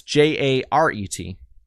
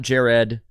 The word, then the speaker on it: Jaret: It's Jaret. Not Jared. Not Jarrett with unneeded letters. Just 1 R, 1 T.